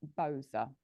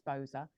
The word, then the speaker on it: Boza: This is Boza, which is spelled B-O-Z-A.